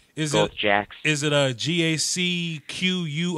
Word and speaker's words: Jacques: well it's a nickname my real name is Jacques there's a little hard to spell pronounced jack is it a GAC